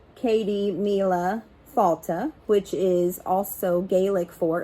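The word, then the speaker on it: Céad míle fáilte: Patrick's Day now to pronounce Katie Mila falta which is also gaelic for a hundred thousand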